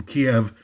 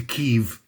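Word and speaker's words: Kyiv: I mean of Ukraine, they changed the name of the capital from pronunciation of the name from Kiev to Kev all at once.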